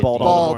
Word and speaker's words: Baltimore: You don't pronounce the T, right? Just In Baltimore. Like a Baltimore? D. It's just a D. It's like a Baltimore. Baltimore. That's right. Baltimore. T's are D's.